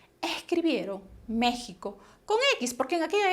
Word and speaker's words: México: estado el país surge se pronunció como si fuera una jota vale méxico y no solamente la